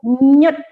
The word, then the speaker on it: NYUD: Tetapi apa nyut di sini yaitu NYUD, nyut bacanya ya, yang mana singkatan dari N itu niat, Bu Puspa.